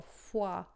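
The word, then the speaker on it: fois: E aí aqui, ó, foi. Se eu falo foi, você vai pensar F-U-A? Não. F-O-I-S, né?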